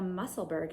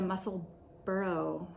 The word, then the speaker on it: Musselburgh: This is the Musselburgh hat, or the Musselburgh hat. I put up a poll on Instagram to see whether you pronounce this hat by Ysolda Teague Musselburgh, like Kay from the Crazy Sock Lady, or Musselburgh, like Ruth from Ruth Loves to Knit podcast, and a bunch of other podcasters.